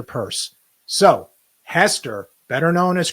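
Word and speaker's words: Peirce: the cftc we have Hester purce Pierce however you want to go I believe the correct pronunciation is Hester purse so Hester better known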